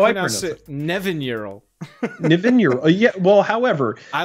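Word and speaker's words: Nevinyrral: it i went well that just makes sense navineural yeah that's how you pronounce yeah well that's how i person nevin euro yeah well however i like the emphasis there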